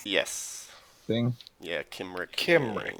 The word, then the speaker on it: Cymric: Yeah, Kimrick. Kimrick. names. They didn't have soft C's back then. It's all hard C's.